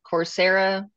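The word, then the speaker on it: Coursera: it um cor is it cor I always mispronounce it corsera corsera they have one tooling U they have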